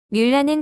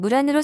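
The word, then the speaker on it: 木兰: 뮬란에 대해서 간략하게 소개해드리자면 뮬란은 중국인들에게 목란으로 더 잘 알려져 있습니다. 중국 고대 민간 서사시 목란사에서 기초했는데요. 중국식 발음은 무란으로 서양인들에게는 알파벳 발음표로 뮬란으로 읽혀집니다. 지금까지도 중국에서는 전통극인 경극뿐 아니라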